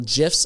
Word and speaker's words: GIF: gifs on instagram and yes it is called gif according to uh steve wilheit he is the creator of it so i think we should go with his opinion of how you say it you create gifs you